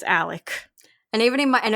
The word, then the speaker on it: Alex: is literally Alexander and his name is spelled Alex but it's Alec and even in my